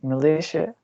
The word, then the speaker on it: militia: The third one is militia. It got 3 syllables, and the prominent is in the second one.